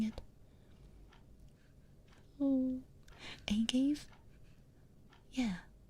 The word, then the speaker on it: agave: Wait, that's how you say it? Okay. Agave? Agave? Agave. I feel like such an idiot. I thought it was agave.